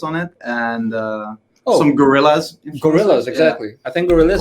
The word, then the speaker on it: Gorillaz: Gorillas, Yeah. exactly. I think Gorillas Gorzillas.